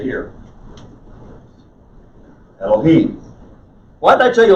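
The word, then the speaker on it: אלהים: it's an unvocalized vowel the emphasis is on the third syllable so it's elohim elohim if you say elohim it's because somebody has put a capital e in an english transliteration and told you that was a word for god they weren't wrong it's just that this is how you pronounce it in hebrew elohim okay and when they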